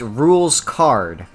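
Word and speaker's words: Rouxls Kaard: It's pronounced Rules Card.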